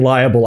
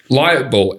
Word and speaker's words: libel: Okay, I keep on hearing liable. I cannot imagine. I'm not saying liable. I understand, but all I can hear you saying is liable. And now I'm confused if that's how that's spelled. I've said it too many times. Liable. Libel. Libel. Light bulb? Libel. Slander. Libel. Right, yeah, I'm going to be level with you.